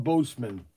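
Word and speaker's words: boatswain: do you say it's called a boseman boatsman boatsman there's a chief petty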